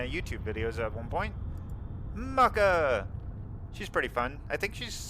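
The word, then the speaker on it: Mucca: Their name is Mucka BB. I don't know if that's actually how you say it, because it's M-U-C-C-A. But yeah, we're gonna raid them over real quick. Oh, no, not Mocha. Mucka.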